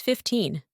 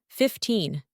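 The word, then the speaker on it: fifteen: incorrectly this one is 15 another one is 5050 as you can hear 15 second syllable is stressed while 50 first syllable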